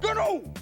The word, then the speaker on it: Gnu: This is Gary Gnu, and the Gnu Gnus is good Gnus show. Gary Gnu was the breakout icon. A green puppet newscaster with a hard G sound and